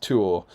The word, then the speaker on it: Tuor: Joe Holzman, I also think generally in Tolkien's writings, 2 consecutive vowels are pronounced separately, like Feanor and Tuor.